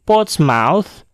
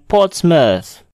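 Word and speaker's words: Portsmouth: pada kata berikut ini kata ini tidaklah diucapkan dengan port Mouse tetapi dibaca dengan pot Smash foto Smash contoh lainnya adalah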